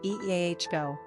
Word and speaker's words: Iago: number of syllables three ranking popularity not applicable pronunciation eah go simple meaning at the heel one who supplants